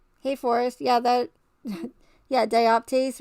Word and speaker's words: dioptase: forrest yeah that yeah dioptase rhymes with psyop case i know that's crazy